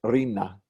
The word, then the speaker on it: Rina: But when it's used as a name, we adopt the Ashkenazi stress on the first syllable, so it becomes Rina. Rina as opposed to Rina.